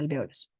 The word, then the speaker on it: alvéolos: en realidad pasa en todo el sistema se pronuncia alveolos listo y ya dentro de los alvéolos también